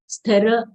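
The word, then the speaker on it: स्थिरमतिः: Sthira, stha is a conjunct letter, half sa, full tha having short e sound followed by ra full letter.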